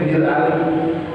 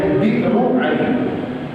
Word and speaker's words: Bir Ali: Zul Hulaifah itu kalau bahasanya orang Indonesia nyebutnya Bir Ali. Bir Ali bukan bir Pak ya. yang dibilang bir kelok, bir anggur bukan bir Ali itu sebutan orang Indonesia karena memudahkan pengucapan aslinya birru Ali. Bi'ru Ali sumurnya Ali. Kemudian di di apa disimpelin penyebutannya di Bir Ali.